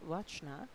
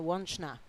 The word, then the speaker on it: Wachna: We also have Małgorzata Wachna. I hope, she wrote us down how to pronounce that. Yes. Małgorzata Wączna, sorry.